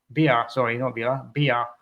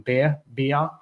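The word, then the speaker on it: Beier: with a German striker, Maximiliano Bia. is how you pronounce it, I believe, rather than beer or Bayer.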